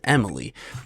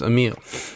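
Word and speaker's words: Emile: Google it and um it's pronounced Amil so I would always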